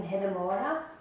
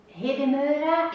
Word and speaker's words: Hedemora: it not sure but i think hidemura is closer to what it should be than hadamarda i don't